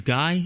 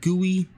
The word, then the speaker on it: GUI: like i heard somebody somebody told me that they thought it was guy and now that is stuck in my head so if i say guy i'm so sorry i i know it's pronounced gooey but that's like stuck